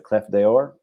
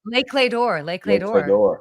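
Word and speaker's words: Les Clefs d'Or: The cleft deor. Oh Lakeor Lake female head concier which is amazing.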